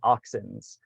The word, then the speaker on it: auxins: so the first one is what are called auxins kind of like if you're talking a bunch